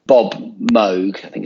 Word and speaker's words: Moog: it was it was it was like Bob Moog I think it's the correct pronunciation of Moog um versus Dave Smith they